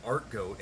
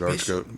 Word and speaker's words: Archgoat: Because I know people that pronounce it art goat, and I've been pronouncing it that way for a long time now. It's kind of the Sabbat thing. Yeah. Yeah, I've always pronounced it Archgoat. Archgoat. Because there's unholy archangel. Archgoat. Archbishop. Somebody We need- told me